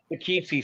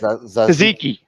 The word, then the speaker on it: tzatziki: Oh, the Takichi sauce over there. What is it? How do you say it? Tzatziki.